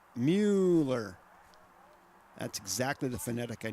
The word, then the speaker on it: Mueller: I got to pronounce that right. Mueller.